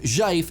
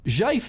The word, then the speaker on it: GIF: Zhaif is similar, though the sound to letters relationship is reversed. Its G is uncommon in English, but it's sort of like the S in casual or vision.